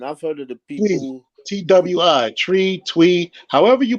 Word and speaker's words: Twi: heard of the people Twi tree tweet however you pronounce it it's spelled t-w-i but it sounds like it sounded like tree that's the tree you